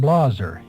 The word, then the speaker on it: Blaser: younger than he was the family pronounced their name blosser in Switzerland and in Montpelier on